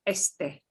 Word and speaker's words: este: The next is a word for east, the direction, or it also means this, este. Este. You pronounce both E's.